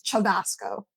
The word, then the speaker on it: Cevasco: You pronounce your name Sebasco. Well, technically in Italian it's Seasco. It's Chavasco.